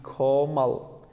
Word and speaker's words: komal: Collective noun, we say nawi komal. Komal. How we pronounce it? Koma. L. Be careful of this, please. That is l, not l. That is not komal.